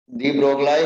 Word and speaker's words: de Broglie: दी ब्रोगलाई hypothesis, जी silent होता है।